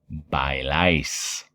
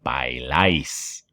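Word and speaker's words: bailáis: their first name rose by lice okay pronunciation by lice everybody say that after me by lice good job of course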